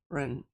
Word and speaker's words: Karandash: Pronunciation is A like apple. Karan. Tyron.